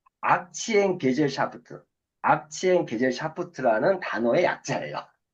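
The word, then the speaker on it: Aktiengesellschaft: 봤더니 독일어 발음이 악치엔 게젤샤프트.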